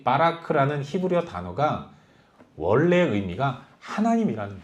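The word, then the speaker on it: ברך: 구약 성경의 언어인 히브리어로 복이라는 말은 바라크라고 발음합니다.이 빠라크라는 히브리어 단어가 원래의 의미가 하나님이라는 거예요.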